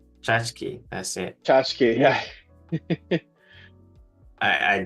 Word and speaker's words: tchotchke: Oh, tchotchke. Chachki, that's it. Tchotchke, yeah. I didn't remember how Okay, to okay.